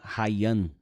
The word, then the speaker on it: Rayan: When did I first hear about Vitor Hayan? It's That's the way we say his name in here.